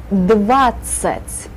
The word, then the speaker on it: двадцать: With the А syllable, with the А sound in the first syllable.